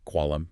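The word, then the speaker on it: قلم: The Q sound, which is a hard guttural stop deep in the back of the mouth, used in words like qualam, meaning pen. Right.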